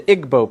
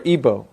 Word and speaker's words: Igbo: in Nigeria you have the Igbo people or Igbo pronounced either way there's 40 million of